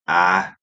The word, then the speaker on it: Ital: is AAL diet the ital D pronounced IAL comes from the word vital s signifying Life Energy